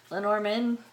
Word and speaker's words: Lenormand: Lenormand cards, I'm pronouncing it the English way.